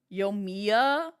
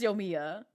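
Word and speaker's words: Yoimiya: I didn't know if it was like Yomiya or Yomaya. So I just said, I'm just going to call you Yomimi. This is what happens when it's just like nobody teaches me how to correctly pronounce her name. So I just give her my own name and I just go with it. Yomiya. Okay, so it is Yomiya.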